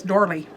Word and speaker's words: doily: do you guys say doily? D-O-I-L-E-Y, I think. How do you say doily? Virginia, my bonus mom, says dorly. And so now, because Virginia always says dorly, I automatically say dorly.